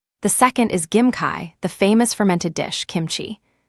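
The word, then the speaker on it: 김치: The second is Gim Kai, the famous fermented dish, Kimchi.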